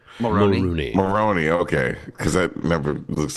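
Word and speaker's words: Mulroney: I never know how to pronounce his name. Maroney.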